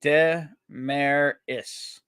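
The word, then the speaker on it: Desmarais: I think it's funny to hear everyone pronounce my name differently, but I say it Demaris. Demaris. That's easy. You know what it is? It's the silent S there, that Desmaris, that screws it up for.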